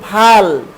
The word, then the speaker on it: ভাল: এরপরে দেখো ভয় আকার ল, এটার উচ্চারণ হলো ভাল। ভাল মানে হলো কপাল।